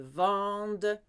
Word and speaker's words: vendent: Il, elle vendent. Silent ENT.